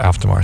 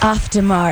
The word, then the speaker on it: Auf Der Maur: I need a Melissa Auf Der Maur song.